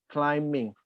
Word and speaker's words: climbing: Jump, jumping, climb, climbing, Climbing. The B is silent. Climbing.